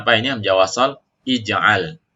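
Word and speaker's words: اجعل: Hamzah wasal ij'al. Ingat kaidahnya huruf yang ketiga harokannya fathah maka dibaca kasroh ya hamzah wasalnya.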